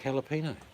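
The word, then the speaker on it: jalapeño: Like jalapeno. Why don't they spell it with a H? No, they've got to use a J.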